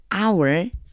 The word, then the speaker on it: hour: 안 나는 애들 얘 소리가 안나요 그래서요 없다고 생각하고라고 읽어 줘야지면 돼요 그러니까 the가 아니고 the hour 이렇게 읽어 줘야지만 되겠죠 the hour has come 때가 이르렀습니다 glorify your son 계속해서